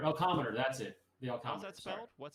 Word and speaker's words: Elcometer: going okay so the next question uh while Elometer elcometer that's it the elometer is that spelled what's it elometer like elome Yeah, it's spelled it's on my website.